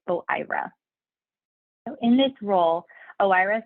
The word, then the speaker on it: OIRA: information and Regulatory Affairs which we pronounce as o IRA so in this role